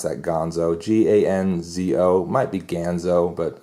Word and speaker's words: Ganzo: Might be Ganzo, but I'm going to say Ganzo. That sounds more correct.